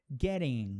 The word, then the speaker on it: getting: Porém, assim como o D, o T entre vogais também vai ter aquela mudança de pronúncia. Lembra que falamos do D lá? lá atrás, aqui ó, daddy, buddy, rodeo, com a letra T a coisa é a mesma. Getting, fatter, computer, attic, tomato. Agora olha essa aqui eu